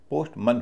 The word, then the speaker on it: postman: पोस्टमन होता है। पोस्टमन यानी एम ए एन का उच्चारण मैन ना होके मन हो जाता है। पोस्टमन इसी तरह batsman, chairman, watchman, human in सब में एम एन का उच्चारण मन होता है।